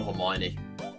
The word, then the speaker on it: Hermione: And um Hermione is the way you pronounce that, dude.